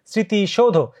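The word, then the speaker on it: স্মৃতিসৌধ: ম ফলার উচ্চারণ মানে শুরুতে যদি থাকে তাহলে সেই ম ফলার উচ্চারণ হয় না কিন্তু ওটা চন্দ্রবিন্দু হয় ম ফলার উচ্চারণ হয় না কিন্তু চন্দ্রবিন্দু হয় স্মৃতি সৌধ খেয়াল করবে স্মৃতি স্মৃতির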